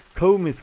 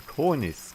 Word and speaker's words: Cornice: Oh, it's not Comis Gaming, it's Cornice.